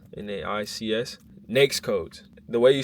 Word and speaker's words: NAICS: In government contracting, the way the industries are set up, like the industries which you work in, is called NAICS, N-A-I-C-S, NAICS codes. The way you spell it, N-A-I-C-S, I put that in the chat.